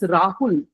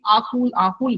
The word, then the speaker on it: Rahul: So if the word is Rahul, person was saying Ahul, but the r wouldn't come.